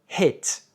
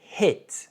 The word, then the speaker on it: hit: Par exemple, le i court en anglais ressemble plutôt au et français. On dit pas, on dit hit. C'est pas it, c'est hit, c'est un et.